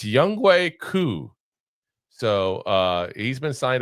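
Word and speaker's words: Younghoe Koo: It's Young Coup.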